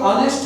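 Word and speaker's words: honest: अब ये जो ऑनेस्ट है शुरू तो एच से हो रहे हैं यानी कॉन्सोनेंट साउंड से शुरू हो रहे हैं लेकिन चूंकि ये फर्स्ट अल्फ़ाबेट जो है ये साइलेंट है इसलिए ओ के साथ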